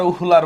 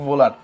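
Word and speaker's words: Wöhler: না হ্যাঁ আসো বিজ্ঞানী ফ্রেডরিক ভোলার বলো আর উহুলার বলো যাই বলো না কেন উচ্চারণটা হচ্ছে ভোলার হ্যাঁ উচ্চারণটা কি বিজ্ঞানীর নামের উচ্চারণটা হচ্ছে ফ্রেডরিক ভোলার এখন ফ্রেডরিক ভোলার কি করছিল সে হচ্ছে লেড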